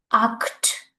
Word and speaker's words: acht: As I told you earlier, when you will see a, o, and u before ch, then you will simply add what? K. K will be the pronunciation. Okay, now you can see before ch, what is coming? I is there. So, the pronunciation will be k. So, it's will be acht.